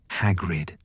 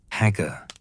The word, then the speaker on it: Hagrid: "I am Hagrid. Can you say it? Hagrid, Gro stared at him with vacant eyes. Hagger, he said finally, and Hagrid's heart swelled with pride despite the mispronunciation.